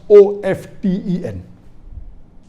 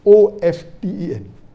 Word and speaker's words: often: T is not silent, it should be pronounced.